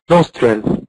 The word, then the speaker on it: nostril: اللي دي بتتنطق بالاس عادي. اس ساوند. اس اس فويس. اس فويس nostril.